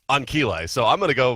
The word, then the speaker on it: Ancile: 6 Greek letters, and that is pronounced Ankile.